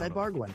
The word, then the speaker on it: Ibarguen: Ed Ibarguen is our guest, and we're trying to pronounce his name correctly, but as you said, it's Ibarguen.